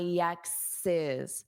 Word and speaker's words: ex's: My exes. So this apostrophe S, it adds an extra syllable.